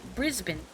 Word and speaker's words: Brisbane: Pronouncing every letter in Brisbane gives it too much dignity. You say Brisbane.